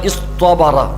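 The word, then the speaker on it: اصطبر: അപ്പൊ ഈ സ്വാദ് വന്നത് കൊണ്ട് ശേഷമുള്ള താഇനെ തോ ആക്കി മാറ്റി. അതാണ് ഇസ്ത്വബറ. ഇസ്ത്വബറ സ്വാദിനോട് യോജിക്കുന്ന ഉച്ചാരണം എന്ന നിലക്കാണ് അവിടെ താഇനെ തോ ആക്കി മാറ്റുന്നത്. ഇസ്ത്വബറ. ഇസ്ത്വബറ ശരിക്ക് അസലുള്ളത് ഇസ്തബറ എന്ന് താ ആയിരുന്നു. ആ താഇനെ മാറ്റിയിട്ടാണ് ഇവിടെ തോ ആക്കിയത്. ക്ഷമിച്ചു.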